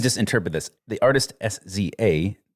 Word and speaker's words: SZA: interpret this the artist sza uh is pronounced siza like I'm guessing Rizza and Giza from mutang I don't I don't